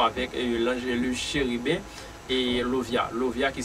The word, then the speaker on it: Lauviah: parler concernant 11e génie qui c'est Lovia qui s'écrit L A U V I A H.